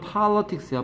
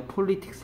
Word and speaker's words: politics: 발음은 politics야. politics 아니야. linguistics는 언어학.